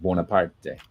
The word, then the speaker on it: Bonaparte: So now later on, of course, he became Napoleon Bonaparte, but originally it would have been pronounced Bonaparte.